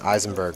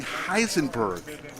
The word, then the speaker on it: Heisenberg: H check it out look jabl is saying Eisenberg for the win no he's saying Heisenberg Eisenberg with is an i no I I